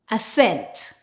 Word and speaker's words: ascent: When we have a combination of S and C together, the C is silent and we just pronounce the S sound.